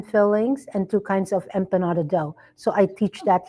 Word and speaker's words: empanada: Empanada.